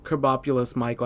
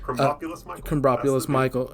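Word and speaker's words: Krombopulos Michael: And so Kerbopulus Michael, I know I'm saying his name wrong. No, that's correct. Kerbopulus Michael is there to murk him, and that's his mark.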